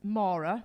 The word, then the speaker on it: Maura: people that that's pronounced Mora which you got right thanks D and um it's not Laura it's not Nora it's not Morag it's not Morin um and it's definitely